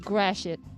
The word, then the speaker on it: Gratiot: It's spelled Gratiot. Pronounced Gratiot. Like great shit.